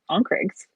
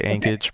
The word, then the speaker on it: Ankage: could communicate with those Onkregs. Am I pronouncing that right? Onkreg? Close right? enough. I say Ankage, but Ankage. Yes, thank you. Ankage.